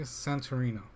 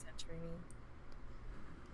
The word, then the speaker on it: Santorini: watch it for sure cool classic uh say santorino or century santorini what i don't even know if i'm saying it right santorini uh s-a-n-t-o-r-i-n-i uh it's a place in greece is that